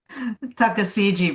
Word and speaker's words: Tuckasegee: Great Smoky Mountains, and in a small house that looks over the Tuskegee, how do you pronounce it? Tuckasegee, very well done.